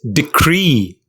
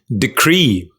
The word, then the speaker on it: decree: you pronounce it it's decree the second syllable cree is stressed which means the first is not stressed decree what does it mean